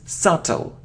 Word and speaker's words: subtle: isn't soft oh no we don't pronounce it it's subtle subtle it isn't hair oh